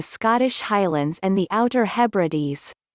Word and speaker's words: Hebrides: originated in the scottish highlands and the outer hebrides pronounced hebrew d's it is the island chain to the immediate